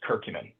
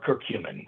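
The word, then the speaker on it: curcumin: the Hallmark that is circumin or circumin depending on your the way you pronounce it but um from turmeric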